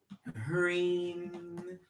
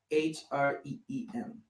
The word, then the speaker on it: Hreem: Anyway, Hreem. H-R-E-E-M. Hreem. Or some people spell it H-E-R-E-E-M.